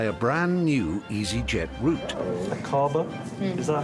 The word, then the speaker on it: Aqaba: Akaba? Mm. Is that how you would pronounce it? Yes. Akaba.